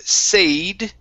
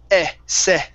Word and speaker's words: said: and this word here instead of sayed okay the word is said there you go good